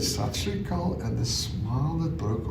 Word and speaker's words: Sat Sri Akal: to her at the end of the thing, Sat Sri Akal. And she said, what? And for a terrible moment, I thought, oh my goodness. I said it wrong. Yes. And I said, Sat Sri Akal.